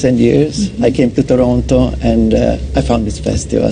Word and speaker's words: Toronto: That's if you pronounce the last T, you don't know much about Toronto. But Toronto.